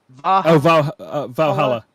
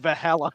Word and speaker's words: Valhalla: even practice it but I just slaughtered it Valhalla I said hello it's my version okay I'm not even